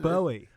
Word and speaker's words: Bowie: Bowie. Bowie. It's like David Bowie.